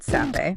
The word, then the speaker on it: Sappe: It's created by David Sappe. Pronounced Seppi.